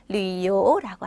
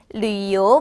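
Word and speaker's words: 旅游: 자, 여행 계획은요, 요크, 여행하다는 류요라고 하시면 되세요. 자, 어떤 발음이 더 어려워요? 류요 발음이 좀 어렵기 때문에 두 번 따라해 보실게요.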